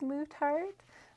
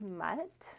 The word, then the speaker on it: Muttart: it properly mtart so people often think it's mut but it was someone's last name and so it is mut like like a dog I guess mut and then art together